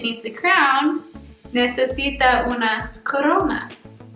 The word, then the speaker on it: corona: a crown necesita wanna corona like exactly like corona virus okay numero tres if